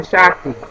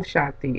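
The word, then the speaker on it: shakti: about was your uh inner Rhythm or your shaki and shaki is is a force that permeates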